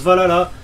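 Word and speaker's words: VA-11 Hall-A: Alors oui, ça s'écrit comme ça, mais ça se prononce Valhalla.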